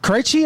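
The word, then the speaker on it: Krejčí: I cannot pronounce his last name, but is Vit Krejci? Krejci, I think is how you say his name. Yeah. Okay. Krejci.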